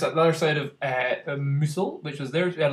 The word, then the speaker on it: Mousehole: I've been told it's called Mousehole, I think is how you're actually meant to pronounce it.